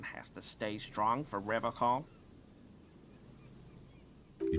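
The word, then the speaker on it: Revachol: one is you said ra call I like to pronounce it the hard way the old way the vespertine way he Winks at you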